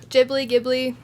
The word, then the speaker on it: Ghibli: Ghibli.